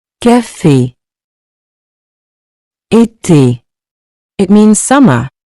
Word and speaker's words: café: This accent gives the E a clear, closed sound, similar to the A in the English word, say.